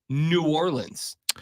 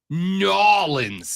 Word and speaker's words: New Orleans: intentionally no no no it's not New Orleans we prefer you say it nans you know people people